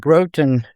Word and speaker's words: Groton: And Groton, I believe that's how you pronounce it, is right across the little bay there with a control tower.